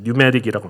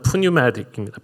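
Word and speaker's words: pneumatic: 성령에 영어에서는 앞에 있는 피자가 묵음이기 때문에 뉴메릭이라고 합니다. 그냥 넣어서 읽으면은 프뉴메딕입니다.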